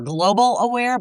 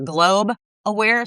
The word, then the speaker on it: Globe Aware: Uh the biggest mistake people might make is they might think we're global aware, but we're globe aware. So, three syllables.